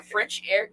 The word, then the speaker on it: Frenchaire: social, so I am Frenchaire at Frenchaire, and on Instagram and Facebook. So my name is spelled French, then air, E at the end, Frenchaire.